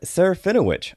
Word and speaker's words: Serafinowicz: am honored to have on the show Peter Serafinowicz how are you ah I'm great man and